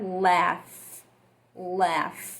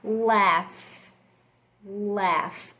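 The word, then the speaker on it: laugh: que é a palavra lá ué e porque ela é um pouco confundida por que esse g h tem um som de efe então a gente vai falar lá ué igual a gente vai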